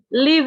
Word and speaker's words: leave: Leave ini bacanya pakai i, leave. Ya, kemarin ada yang bilang, I live in Tambun, Miss. Salah, bukan live.